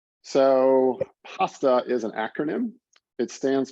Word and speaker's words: PHASTA: than everybody else's so i like pasta a lot so uh that's the way i pronounce it but you can you can call it what you like okay so an outline